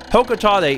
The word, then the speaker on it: Hokotate: Hokotate is the correct pronunciation, at least from what I have been able to tell.